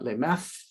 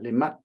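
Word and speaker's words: les maths: say mathematics in French it's not Le math but Le much the mat is the short form for math um the string of T and H in French usually sounds like okay listens as I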